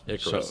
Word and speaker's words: Icarus: I always want to know how they pronounce it. Now I know. Icarus.